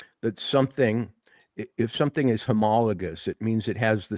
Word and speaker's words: homologous: So, um, racket readers and and ATW listeners, uh, our word of the day is homologous. Homologous.